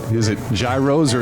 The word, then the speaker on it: gyro: Is it gyro or is it gyro? Gyros, yes. Traditional Greek, and they take the name over this. In Greek way, they call it around. In Greek, it's gyro.